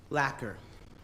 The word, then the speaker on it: lacquer: Benjamin, if you spell it correctly, you win. Lacquer.